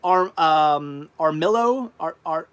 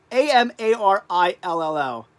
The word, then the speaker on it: Amarillo: Slim Jim Bob, nice, says, yeah, you will go through Armillo, Armillo. No. How do you say that? Amarillo.